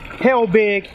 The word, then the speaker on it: Helbig: We got Ethan Helbig, right? That's how you pronounce it?